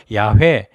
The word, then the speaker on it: 야훼: 근데 또 학자들이 보니까 더 정확한 발음은 첫 음절은 야, 2번째 음절은 쉐. 이래서 야훼.